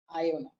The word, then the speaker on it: Iona: My name is pronounced as Iona itself. Iona, okay.